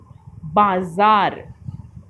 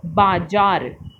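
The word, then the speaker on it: बाज़ार: नुक्ता लगने के बाद उच्चारण, अक्षर का उच्चारण बदल जाता है। आइए अब कुछ नुक्ते वाले शब्दों को बोलकर पढ़ते हैं। बाजार, अखबार, ज़मीन, अंग्रेज़ी, सफ़र। इन्हीं को अगर हम बिना नुक्ते के बोलेंगे तो बाजार, अखबार, ज़मीन, अंग्रेज़ी, सफ़र, तो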